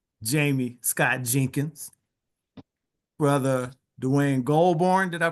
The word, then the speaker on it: Goldburn: Jamie Scott Jenkins, brother Dwayne Goldburn. Did I pronounce that right? Yeah, that's cool. Yep, Goldberg. He said that's cool. Goldburn.